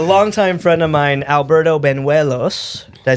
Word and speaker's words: Banuelos: So today's guest is a longtime friend of mine, Alberto Banuelos.